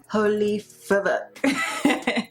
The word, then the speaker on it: Fvck: It's your girl Vanessa, and today we are here with Demi Lovato's newest album, Fvck. Yes, I know that's not how you say it, but there is a V in there.